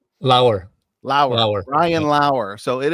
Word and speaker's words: Lauer: tonight it is a privilege to have Brian lawyer here actually Brian I want to make sure I'm pronouncing your last name right is that right lower low ran low so it is a privilege